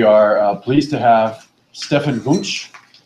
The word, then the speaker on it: Wunsch: Today we are pleased to have Stefan Wunsch. Did I pronounce that correctly? Say Wunsch, yeah. Wunsch, okay.